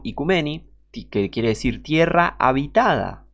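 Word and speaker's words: οἰκουμένη: del griego antiguo o ikicumene, aunque se pronuncia en griego moderno, ikumeni, que quiere decir tierra habitada.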